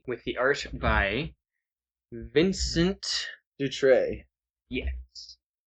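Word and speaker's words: Dutrait: the art by Vincent Dut. Yes, I think that's the T is silent. I'm not sure. It's would be silent. It's a French game. They're French.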